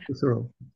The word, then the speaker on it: Husserl: He was interested in, or I guess his work kind of aligned with Husserl, I cannot, H-U-S-S-E-R-L. How do you pronounce that? Husserl.